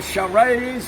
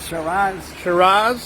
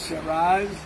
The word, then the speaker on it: Shiraz: I love that number one I love a charades how you say it Shiraz Shiraz and then at the bottom of the totem